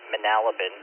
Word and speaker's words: Manalapan: It's actually pronounced Manalapan.